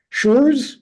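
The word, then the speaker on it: Schurz: makes under Johnson and this other character uh shures is that how you say his name yeah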